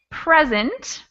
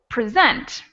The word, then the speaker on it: present: And if you look at this pair, we have present, first syllable, and present, second syllable.